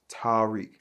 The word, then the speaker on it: Taariq: your name right cuz it ain't just Tariq. Like, I get the way that it's spelled, but it's pronounced Tariq. Actually, it's pronounced Tadic in Arabic.